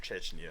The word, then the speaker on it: Chechnya: I don't think there's a CH in that one, is there? Trust me, it's pronounced Chechnya.